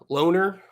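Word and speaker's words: Lohner: Uh Caleb, uh Loner. Loner. I'm going to just No, it's loner. It's like you're a loner. You don't hang out with anybody. You're a loner. That's exactly how you say it.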